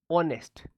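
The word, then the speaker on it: honest: तो आप बोलोगे कि सर आपने बताया था एच साइलेंट रहता है। इसको ऑनेस्ट पढ़ा जाता है। तो क्या पढ़ा जाता है? सॉरी इसको पढ़ा जाता है। इसका प्रोनाउंसिएशन जो होता है, वह होता है ऑनेस्ट। यानी कि वोवेल साउंड।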